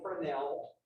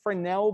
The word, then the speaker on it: Fresnel: a fresnel reflection e f-r-e-s-n-e-l so as something or as our viewing angle changes we start to see more reflectivity so some of you may have heard of fresnel before the s is silent they use fresnel lenses